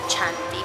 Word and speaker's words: Chianti: Venimos llegando a la zona de Chianti. Se escribe Chianti, pero aquí dice Chianti.